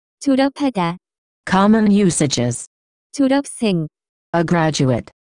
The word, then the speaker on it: 졸업하다: The pronunciation of this word is closer to. 졸업하다.